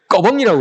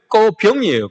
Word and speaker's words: 꺼병이: 우리는 꺼벙이라고 그러죠. 근데 원래는 꺼병이에요. 꺼병인데 쉽게 발음하기 위해서 꺼벙이 이렇게 얘기합니다.